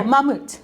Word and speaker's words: Mamut: how did I go oh mamut mamut I'm the only one